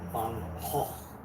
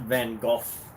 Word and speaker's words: Van Gogh: So they seriously corrected me, and ever since I've been pronouncing his name Van Gogh in the Dutch way, not Van Gogh or Van Gogh.